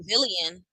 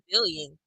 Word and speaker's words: villain: Summer said she got booed because she's a villain, but she's pronouncing wrong. She's a villain. Villian. She trying to say villain.